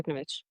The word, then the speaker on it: Yuknavitch: It's based on a novel by Lidia uh, Yuknavitch. Am I pronouncing that correctly? Yeah, Lidia Yuknavitch.